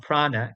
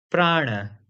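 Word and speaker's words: prāṇa: Similarly, in yoga, we talk about prana, but actually it's not prana, it is prana.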